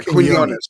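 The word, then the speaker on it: Quiñones: Quinones. Yeah, Quinones. Thank you. I can pronounce larynx, but not Quinones.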